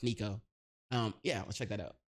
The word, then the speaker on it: Sneako: I mispronounced Sneako. I said sneaky hoe. My bad. I mispronounced Sneako.